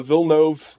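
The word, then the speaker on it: Villeneuve: every decision that uh vilnov that's apparently god's showed me an interview with him and that's how you say his name denny vilnov i think every decision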